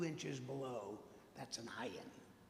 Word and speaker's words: ayin: It's very, very difficult to pronounce it. It's actually, if you really, really work at it, it's the sound you make just before you vomit. It's called a glottal stop. It's a hard glottal stop.